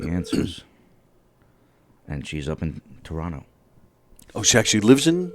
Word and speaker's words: Toronto: in the states so is it true that you don't pronounce the T the middle t I that's how people know I'm from toe because I say Toronto but if you front